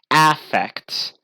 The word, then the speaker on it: affect: noun but it but in that case would be pronounced differently it would be pronounced affect which is a term